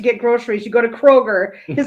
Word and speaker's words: Kroger: You don't go to Kroger's to get groceries. You go to Kroger. His name is actually pronounced Willem Dafoe.